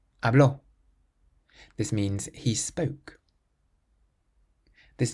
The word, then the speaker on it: habló: The next word has an accent on the O, so we say habló, habló.